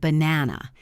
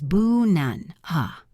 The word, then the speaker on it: banana: In the word banana, it is boo-nun, ha. Most students try to pronounce every syllable clearly ba-na-na, but that sounds robotic.